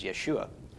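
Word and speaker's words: ישוע: that's not his Hebrew name Seaver name was Yeshua how did it go from Yeshua to Jesus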